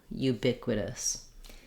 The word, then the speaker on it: ubiquitous: that way may help you to remember you ubiquitous letter i says the ih sound like in